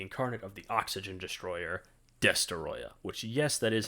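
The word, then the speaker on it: Destoroyah: burning Godzilla the Incarnate of the oxygen Destroyer destoya which yes that is how you pronounce his name and I will see you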